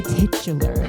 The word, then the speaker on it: titular: You did say titular. I did say, and I did emphasize the first syllable too. Because why else say the word?